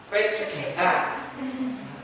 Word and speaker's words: PPPK: Ini yang bersama dengan PPPK, P3K. Masuk kamu ucapkan PPPK. Ya betul kan, tulisannya pakai PPK tapi bacanya P3.